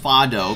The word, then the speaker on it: Fado: First of all, found out that his name is actually pronounced Fado because the idea was that his name is based off of the, you know, the musical scale.